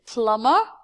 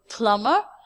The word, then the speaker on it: plumber: Etc a Plummer a plumber is a person the second B my dear is not pronounced the word plumber is a person job